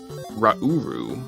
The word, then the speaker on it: Rauru: have been told that it is actually pronounced rauru which rhymes with nibiru so i don't actually